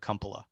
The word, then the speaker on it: Kumpala: Is it Kumpla? You can pronounce it any way you want, Sean. My family pronounces it Kumpala.